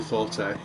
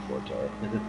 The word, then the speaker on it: forte: It's you're supposed to pronounce it fort, I guess. But I still am prone to saying forte.